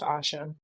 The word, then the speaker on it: Asha: It's pronounced Asha.